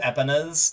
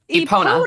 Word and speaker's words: Epona: Epina? What is that? Not how you pronounce it? Pause. Epona. Epona. Is it really? Epona. Epona. All right, well, Yes. fuck. All right, I'll go cry in my corner then. Fuck me. Because pony, Epona.